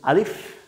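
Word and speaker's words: ألف: আপনি স্বাভাবিকভাবে যদি বলে দেন আলিফ আলিফ আলিফ আলিফ জাস্ট একটু বাতাস বের হবে। আলিফ আলিফ আলিফ মুখের খালি জায়গা থেকে আলিফ আলিফ।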